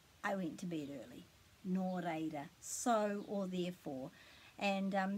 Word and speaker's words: Nō: means um so or therefore and we've got no pretty easy that one isn't it because we know that the o is pronounced for nor and then this one is